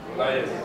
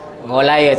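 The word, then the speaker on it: Goliath: Jalut ni kalau ejaan orang putih ni macam ni. Ini macam mana sebut? Golayas. Golayas. Ha, yelah, itulah dia.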